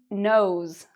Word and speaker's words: knows: So, we would say: "he knows", "she knows". What do you notice about the "s" sound? Does it sound like a "z" or like a "s"? Is it a "z" sound or an "s" sound at the end?